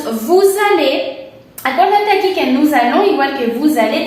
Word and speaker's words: nous allons: Acuérdate aquí que nous allons, igual que vous allez, tenemos la liaison, por eso suena como z, nous allons.